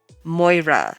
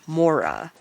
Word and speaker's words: Moira: He mispronounces my name. Moira, not Mora, I correct him.